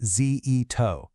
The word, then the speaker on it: Zitto: Her name is Vivian Zitto. That's pronounced zeto.